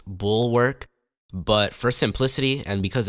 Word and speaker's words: Bulwark: video starts the title of this game is pronounced bull workk but for Simplicity and because it's funny I'm going to be referring to it as bullwark so uh just be prepared for me mispronouncing